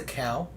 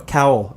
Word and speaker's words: cowl: Batman's a cow? No, cowl. It's a mask. It's a kind of mask. Cowl? Cowl. Like Simon Cowell? Yeah, kind of like that, but it's spelled Cowl.